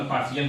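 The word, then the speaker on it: partial: English grammar का ये rule है कि टी के बाद अगर आई ए आता है तो उसे सा के रूप में उच्चारण किया जाता है।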